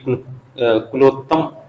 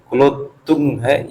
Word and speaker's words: कुलोत्तुंग: विवाह किया था, तो ये कुलोत्तम कुलो कुलोत्तुंग, सॉरी ये थोड़ा सा प्रोनाउंसिएशन देख लीजिए, कुलोत्तुंग है ये फर्स्ट वाला।